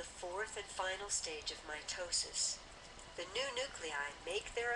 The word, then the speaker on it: mitosis: the first one here mitosis that's how it's pronounced mitosis the purpose of mitosis is for cellular division